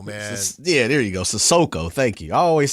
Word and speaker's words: Sissoko: Sissoko. Thank you. I always say his name wrong.